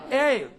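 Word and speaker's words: aisle: S is usually silent in the words A-I-S-L-E. Ale. Island.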